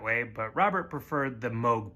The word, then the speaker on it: Moog: And you might be seeing his name and thinking that it's pronounced Moog. And some people in his family did pronounce it that way, but Robert preferred the Moog pronunciation.